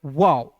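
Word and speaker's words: wow: तो ओ का उच्चारण दोस्तों औ के रूप में करते हैं। देखिएगा डब्ल्यू का व लिखना है। फिर डब्ल्यू का व लिखना है। ओ है तो इसका उच्चारण औ के रूप में करेंगे। वाओ।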